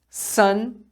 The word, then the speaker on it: sun: Sun e sun. Então, as duas são pronunciadas sun.